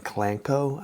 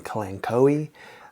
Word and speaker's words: Kalanchoe: is the pronunciation because there are multiple ways to pronounce this that I've seen uh I've seen clango I've seen kenoi uh I'm going to go with colano because the more I think about words that have ch in them the more I